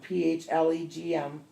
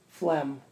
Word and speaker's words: phlegm: letters within the word silent letter G medical term Flum pH le GM phlegm pronounced FL a.m.